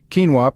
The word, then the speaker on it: quinoa: Quinoa, pronounced quinoa, is a nutrient powerhouse that's been making waves in the health and wellness world.